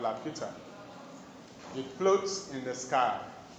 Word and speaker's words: Laputa: L-A-P-U-T-A. Laputa. Which is a flying island. It was a flying island. Flying island. Laputa is a flying island. Or you can call it a hovering island. Okay? Called Laputa.